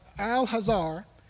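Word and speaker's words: Al-Azhar: to 950 859 A.D the next school is pronounced al-hazar which is located in the area of Egypt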